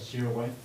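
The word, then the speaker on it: Sirois: Lewis and Gloria s how do you say your last name sway seway s i r o i s sway sway for variance 10 foot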